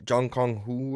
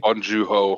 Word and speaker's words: Bong Joon-ho: Jung Kong Hu or whatever his name is, directed movie. Bong Joon-ho. Bong Yeah. Joon-ho, yeah. I butchered all that, but I knew what it was.